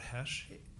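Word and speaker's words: Hoesch: morning start by stating your full name and spell it out for us my name is Hesh r-o-b-e-r-t-h-o-e-s-c-h doctor nice to see you what what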